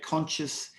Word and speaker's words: conscious: conscious is another word don't forget conscious has the silent see empathize thank you well